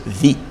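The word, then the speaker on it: Vy: Their name was V-Y, like just V-Y. You pronounce it V.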